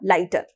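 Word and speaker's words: lighter: होगा वो हो जाएगा लाइटर तो इसे लेटर साइलेंट है इसके अंदर जी और ह साइलेंट होगा और इसके सामने लाइटर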